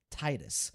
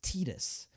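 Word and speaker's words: Tidus: That is always what it's been in my head, Titus. but it's pronounced Tetus.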